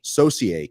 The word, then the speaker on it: Saucier: say you say your last name's Saucier associate socier Saucier from Edmonton International Raceway welcome Mr